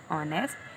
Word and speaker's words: honest: Okay students, here are some dictation words and the first one word is honest. Spell honest. H-O-N-E-S-T-N-E-S-T. Honest. H is silent here. That's why the pronunciation is started from O, but you will write